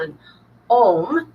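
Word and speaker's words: ogham: Part of the indigenous culture of the British Isles was a tree alphabet called anom. Can be pr written o g h a m or but pronounced like m like if you're meditating and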